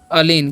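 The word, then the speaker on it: align: और इसे पढ़ते हैं अलीन। क्या पढ़ते हैं, अलीन पढ़ते हैं, जी साइलेंट है।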